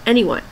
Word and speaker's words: Anywon: and ywo end but it's pronounced anyone get the pun anyway I decided to